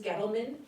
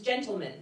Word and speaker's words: Gettleman: Gettleman is the cashier at safeway who always mispronounce it calls me mrs. gentleman particulate because a there's no N and B whose name